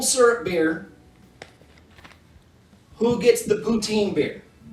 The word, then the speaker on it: poutine: It's actually not poutine. It's poutin, right? It's Putin. The E is silent cuz it's French and they're all sorts of weird.